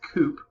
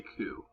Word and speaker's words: coup: here that's not pronounced coop like a chicken coop or a car you know call it coop this is called coup even though it has a P in it basically a coup is